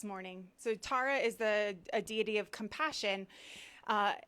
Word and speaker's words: Tara: tibetan deity and um it's pronounced several different ways but i'm going to do tara this morning so tara is a deity of